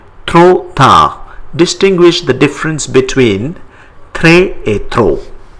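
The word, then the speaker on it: trop: the word in French throw th t r o p we don't pronounce p th the word late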